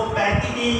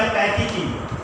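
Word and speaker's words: pachytene: इसको पैकिटीन या पैकिटीन दोनों प्रोनाउंसिएशन दे सकते हैं।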